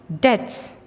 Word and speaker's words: debts: Debts. Pauper. Voyages. Seafarer. Laughter. Pavement. Splendid. Debts. Pauper. When we pronounce the word debts, letter B is silent.